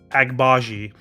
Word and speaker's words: Agbaji: how to say his name it is yeah agbaji um from Kansas yeah he just went up